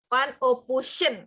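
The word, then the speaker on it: Van Ophuijsen: Van Opuyesen. Panopusion. Gitu bacanya, Opusion. Di sekolahnya digabung.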